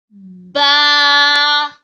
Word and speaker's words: ba: kindly read after me ba ba comes from fact portion of lips to pronounce ba this is read after